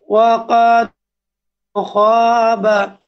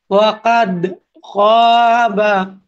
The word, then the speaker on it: وقد خاب: কলকলা কিভাবে করে? ওয়াকাদ ওয়াকাদ খাবা। আর যদি এটাকে কলকলা না করেন তাহলে কিভাবে হবে? ওয়াকাদ খাবা। তাহলে সঠিক উচ্চারণ কিন্তু ওয়াকাদ খাবা মান যাই হোক, আমরা 1